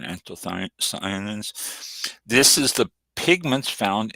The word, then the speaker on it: anthocyanins: Next one we have for you, anthocyanins, and it's a little thing here how to pronounce this. That's exactly how I pronounce it, anthocyanins.